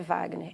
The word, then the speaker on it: Wagner: um aluno chamado Wagner como é que se escreve Wagner com ver é com W tem uma letra Muda então não é uma